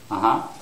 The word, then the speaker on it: uh-huh: see for yes it's uh-huh uh-huh so for yes it's the second syllable which is stressed okay but for no